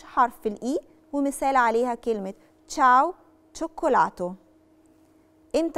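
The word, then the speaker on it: ciao: فبقت كواره يعني قلب تشاو تشاو تشاو تشاو تشاو مشاو علشان احنا اتفقنا ان الحرف الاي في الكيس دي في الحاله دي ما بيتنطقش وبننطق الحرف اللي وراه على طول فهي تشاو شوكولاته تشوكولاته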